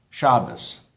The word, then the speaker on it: Shabbos: So, in, for example, modern Israeli Hebrew, you say Shabbat, and you say minhag, Siddur, emphasis on the last syllable. In Ashkenazi pronunciation, Shabbos, minhag, Siddur, mitzvah, on the second last syllable.